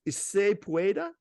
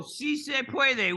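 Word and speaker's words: sí se puede: I'm not slaying the way that this is pronounced. Is se pueda? Oh, si se puede, which means yes, we can.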